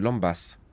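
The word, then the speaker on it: lembas: Faut prononcer le S de Lambas.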